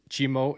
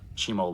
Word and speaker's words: Cheemo: Uh he's from Chimo, is that right? Chimo Lodge. Correct pronunciation?